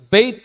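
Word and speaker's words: בית: என்னது வீடு அது பெத்துங்கிறதுக்கு நம்ம நார்மலி பெத்து பெத்துன்னு தான் சொல்லுவோம் ஆனா அது என்ன சொல்லணும் அப்படின்னா பெயித் அப்படின்னு சொல்லுவாங்க பெயித் பெயித் அப்படின்னு சொல்லி சொல்லணும் பெயித் அப்படின்னா என்னது வீடு வீட்டுக்கு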